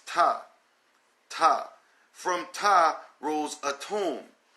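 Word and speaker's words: Ptah: waters of none rolls top or some will say pitaya but you know the P is silent like you know pneumonia you know we don't say cut pneumonia it's top top from top roles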